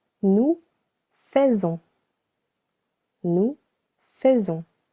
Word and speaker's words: faisons: Nous faisons. Nous faisons. The letter S over here sounds Z because it is linked with the letter O.